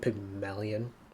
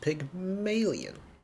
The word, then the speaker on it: Pygmalion: p now I think I've been calling it Pygmalion all throughout DMV I've now realized that it's pronounced Pig million that's what we're going to call it today